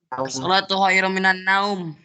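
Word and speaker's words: الصلاة خير من النوم: Kalau semacam ini salah nih. Nih, Ustadz bacakan yang versi salah. As-salatu khairum minan naum. Naumnya panjang, salah ya.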